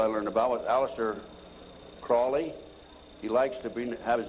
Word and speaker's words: Crowley: learned about with Aleister Crowley he likes to have his name pronounced Crowley to rhyme with holy and the Satanists today